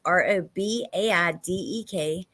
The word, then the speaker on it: Robaidek: The Eau Claire Police Department told WQOW that Colin Robaidek, his last name is quite hard to pronounce. Here it is, Robaidek.